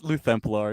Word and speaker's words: Luthemplar: It's Luthemplar. It's like Lutheran Templar. It's just with the Greek L.